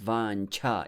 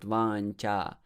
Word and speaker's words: vāñchā: don't worry so and in vancha the second syllable is vancha it's not vancha more air it's aspirated you need